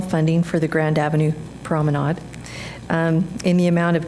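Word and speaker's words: promenade: pronounce their names good I did consult with my French friend and it is prominade prominade okay unless you're trying to get it to rhyme with lemonade right like the emphasis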